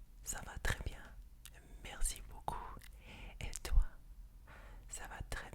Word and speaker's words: beaucoup: Merci beaucoup. Beaucoup means a lot. When you see it spelled, you'll see a P there. You do not pronounce that P. It is pronounced beaucoup. Beaucoup.